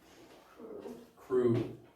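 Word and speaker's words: ครู: the word for teacher it says crew it's a k and it's a k an r and a long u sound crew does that be crunny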